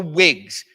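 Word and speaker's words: Whigs: who are anti- King were generally called the wigs and this is spelled Whig it's not about a hairpiece folks these folks generally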